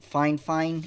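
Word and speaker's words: Fifine: Geez, it's by Fine, and it's pronounced like two fines, like fine and then fine again, even though it's just FI and then the word fine.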